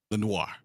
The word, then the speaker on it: Lenoir: Lenore? How do you say that? Demondor Lenoir.